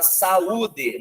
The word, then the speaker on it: saúde: A palavra saúde, saúde, sauna, ele tem uma diferença de pronúncia.